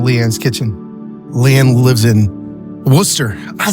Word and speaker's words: Worcester: Leanne lives in Worcester.